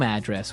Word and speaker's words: address: So different from your home address where you live. Yeah, and there the stress is on the first syllable. Address.